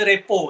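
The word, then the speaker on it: rapport: Dia sebutan dia repo tapi ejaan dia report. Korang jangan sebut report lah.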